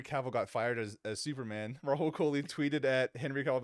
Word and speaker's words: Rahul Kohli: Rahul Kohli.